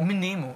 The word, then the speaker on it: Mnemo: Sagt man Memo oder Mnemo? Mnemo, wie bei Amnese.